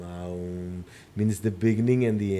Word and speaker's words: Om: It's always pronounced as Aum, Aum, Aum.